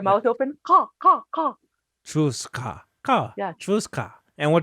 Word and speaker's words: Chuutsqa: So Chuutsqa. so for the sound ka, Yeah. it comes from the back.